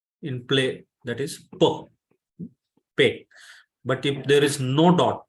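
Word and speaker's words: פּ: it is p in play that is per pay but if there is no dot that dot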